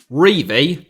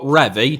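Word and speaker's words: Revie: Revy, as he liked to be known, not Revy, just in case you were wondering why I kept pronouncing it like that, ended his career at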